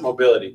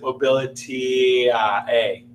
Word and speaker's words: Mobilitie: We pronounce it Mobility, but maybe we'll pronounce it Mobility A.